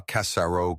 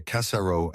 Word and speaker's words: Cassaro: Il ne disait pas Cassaro comme un américain. Il disait Cassaro avec un léger accent sur la première syllabe. Et le R était roulé mais doucemente.